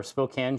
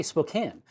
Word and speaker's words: Spokane: it shows up or Spokan shows up like in a show it's always going to be Yakima what is wait how do you say Spokan well you say Spokane but what is it